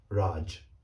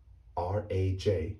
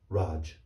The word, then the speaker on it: Raj: with a g so that name is actually pronounced raj the word is raj r a j is correctly pronounced raj not raj now let's take it to the